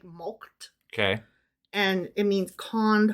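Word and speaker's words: mulcted: milked now I looked at the word milk is spelled here m-u-l-c-t-e-d like mulked okay and it means conned horn swaggled or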